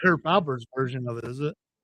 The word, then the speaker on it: Herb Alpert: Herb Albert or Herb Albert? It's actually Herb Alpert, by the way.